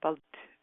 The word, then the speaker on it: balut: It's called, and I don't know if I'm going to pronounce this right, it's called balut, B-A-L-U-T.